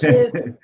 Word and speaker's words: GIF: When they ask the guy who created it how you should say, he goes GIF, like the peanut butter.